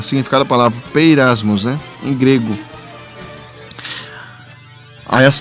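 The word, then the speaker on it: πειρασμός: palavra grega utilizada é peirasmos. Olha só aqui, ó. Peirasmos, né? Olha aqui, tá escrito em grego e aqui tá como ela se pronuncia aqui, ó, como na nossa linguagem, né?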